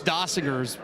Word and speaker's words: Dossinger: It's Dossinger is the pronunciation.